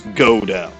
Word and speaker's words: Godot: No, it's Godo. Go for Diego and Ar and do from Armando.